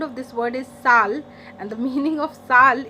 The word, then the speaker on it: sale: we are learning here next word is sal yes s c-s-a-l-e sal what is the word coming in your mind that is sale right as an english speaker but no sal first of all the